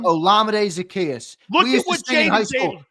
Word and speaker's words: Olamide Zaccheaus: Olamide Zaccheaus. How do you say his name? Olamide Zaccheaus.